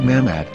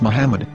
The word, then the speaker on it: Muhammad: after the H according to Ben yehuda's Hebrew English dictionary it is correctly pronounced as Muhammad not mammad so how we're going to know for sure if it's pronounced as Muhammad the Muslim Prophet or